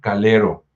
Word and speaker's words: Calero: cargo del fray Juan Calero. Es calero con a, eh, no lo vayan a pronunciar con u porque luego se desoye feo, así como partido de fútbol.